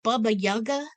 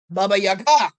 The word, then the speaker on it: Baba Yaga: to say are you baba yaga baba yaga i said emphasis on the last syllable who are you then